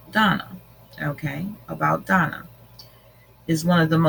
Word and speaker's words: Dana: About Dana, pronounced Donna.